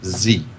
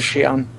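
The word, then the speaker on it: Xi'an: is a point where it says XI and it in the parenthetical right next to it is is pronounced Z wow Chris always says Shion I've seen Chris say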